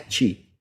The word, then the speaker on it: Chi: Tulisannya CH pembacaannya, tapi nulisnya adalah X seperti ini, bacanya Chi.